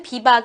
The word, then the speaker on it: 비박: 로 만들어진 말이 아닙니다 독일어 비바 크 그리고 프랑스로 는 비버와 이라는 외국어를 우리나라 말로는 비밥 이라고 발음하고 있는거라고 하네요 비박을 우리말로 하면 뭐가